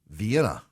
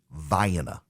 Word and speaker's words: Vienna: You would think, undoubtedly, dear listener, that it is pronounced Vienna. You would be wrong. It is pronounced Vienna. Vienna.